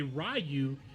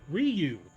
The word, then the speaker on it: Ryu: The reason why people say Rayu is because the actors couldn't say Ryu. They would say Rayu, dude. So they they they butchered his name to now say Rayu when it's Ryu.